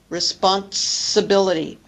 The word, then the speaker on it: responsibility: In responsibility, we add a T, responsibility.